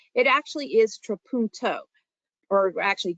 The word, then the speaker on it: trapunto: correctly it actually is trapunto or actually trapunto so you're saying that second syllable a little differently and i'm going to